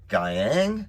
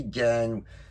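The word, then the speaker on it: Giang: Spider-Man India, I had signed by Scott Hanna and John Gyang. I believe that's how you pronounce it. It could be Gang, but I think it's Gyang.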